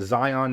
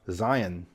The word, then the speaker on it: Zion: this one right here I pronounced it Zion National Park I think most people pronounce it that way as well but people jumped on me it's actually pronounced Zion and right near Zion